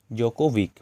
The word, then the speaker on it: Djokovic: এটা ডি হবে, ডিটার উচ্চারণ হবে না, নোভাক জোকোভিক হবে।